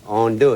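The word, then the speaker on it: andouille: n d o u i l l e Ono it anybody know how to spell that bro his voice already got me his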